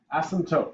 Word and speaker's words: asymptote: Not asymptote, okay? By the way, Asymptote. the P is silent, like in pterodactyl.